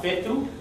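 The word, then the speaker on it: whetū: The stars are Fetu. The WH is normally pronounced more like an F to us in English.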